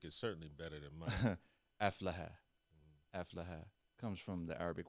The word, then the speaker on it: Aflaha: Aflaha.